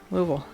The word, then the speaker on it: Louisville: am south of louisville louisville that's how you say it it's all vowels louisville i am not